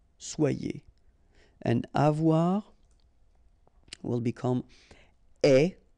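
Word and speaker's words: aie: And avoir will become est. Remember, the final E is not pronounced. So, you only have this A-I sound. Est.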